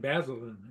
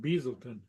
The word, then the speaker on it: Basildon: Well, anytime I've ever heard it used, and that not very often, but it's always been Basildon. It isn't Beaselton.